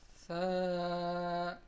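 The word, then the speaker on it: ثاء: Tha is a very soft sound. When the tip of our tongue touches the edges of the upper two front teeth, that is how we start to originate the sound of this letter.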